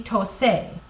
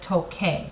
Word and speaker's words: toque: QU in there instead, if you didn't change it to QU, it would be tose instead of toque. And because it's tocar, we want to keep that hard C sound, so it's going to be toque el piano, okay?